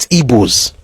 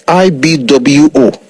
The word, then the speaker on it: Igbo: their name as IGBO, they still don't pronounce it like Igbo. They never use the word Gbo. They don't use B. One is aggressive, and that's not what theirs is. They call it, and I've said this, if you read the book by G.T. Baston, Among the Igbos of Nigeria, he said, and he's correct, that the closest way to actually spell the word as it is pronounced is Ibwo, is Igbo.